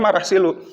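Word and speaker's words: Merah Silu: marah silu ini adalah kalau pengejaannya mau rasilu tapi pengucapannya marah silu bergelar Sultan Malik as-saleh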